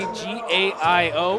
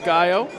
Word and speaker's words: Gaio: I'm at, G-A-I-O. It is pronounced Gaio. Gaio. A lot of people get it wrong, but Gaio it is.